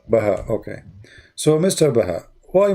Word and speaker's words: Baha: Baha'uddin. No, just Baha. Baha.